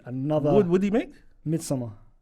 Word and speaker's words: Midsommar: Midsommar. No, you said it differently. It's Midsommar. I like that. Yeah, that's how it's said. That's how it's said and how it's spelt as well.